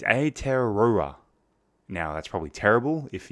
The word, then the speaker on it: Aotearoa: speak any Maori so I believe the pronunciation is a Terraria now that's probably terrible